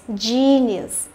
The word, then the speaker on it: genius: Thì e cũng đọc là i dài, đúng không? Genius. Rồi chúng ta có từ này là từ gọi là ngoan ngoãn, đúng không?